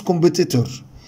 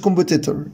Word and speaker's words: competitor: طبعا الناس بتنطق متنافس competitor، طبعا هي مش competitor، هي competitor competitor competitor competitor. طبعا صوت الاو هنا شوا، يعني قصير جدا، والاسترس هنا على المقطع الثاني، فعشان كده قلتها كم